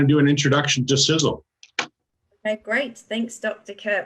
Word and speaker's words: Sisel: some people pronounce it sisal I guess it could you know it looks like it's pronounced that way but it's actually sizzle so if this company